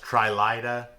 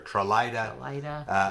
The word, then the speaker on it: Trahlyta: I think it's pronounced Trahlyta or Trahlyta Lake, and it's really, really gorgeous.